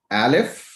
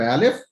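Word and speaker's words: א: other one is in alif is a silent letter okay but it makes a sound when there is a vowel attached to it okay so uh we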